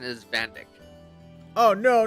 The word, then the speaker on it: Van Dyck: Did I mention it's really stupid that's not his actual pronunciation for his name? Van Dyke, isn't it? His actual pronunciation is Van Dyck.